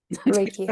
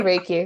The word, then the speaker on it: Reiki: and then you also do Riki is it riky or Reiki Reiki I say raiki maybe I've been saying it wrong my whole